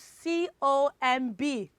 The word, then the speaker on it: comb: So how do you pronounce C-O-M-B? It is what? It is comb.